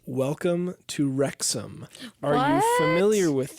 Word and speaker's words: Wrexham: We are watching a television program, docuseries on Hulu called Welcome to Wrexham.